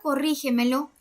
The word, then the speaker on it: corrígemelo: En la palabra corrígemelo, la sílaba tónica está en la última, penúltima, antepenúltima sílaba antes de la antepenúltima sílaba.